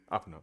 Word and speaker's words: Oppenheimer: How's it pronounced? Am I saying that right? Oppenheimer. Open up. Yeah. Oppenheimer.